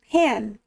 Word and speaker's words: pen: Some words you do have to be very careful about the accent, like the word pen. Pen and beautiful in Norwegian are kind of the same word. The object, a pen, is pen, kind of just like that, P-E-N-N, and the word for beautiful is pan, P-E-N. Kind of a false cognate there. And you have to pronounce the E long, otherwise you're calling someone a pen.